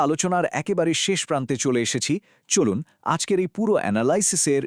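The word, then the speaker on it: へ: বর্ণমালার হা, হে এবং ও এগুলো লেখার সময় হা, হে এবং ও হলেও পার্টিকেল হিসেবে বাক্যে উচ্চারণের সময় এদের অবশ্যই ওয়া, এ এবং ও উচ্চারণ করতে হবে।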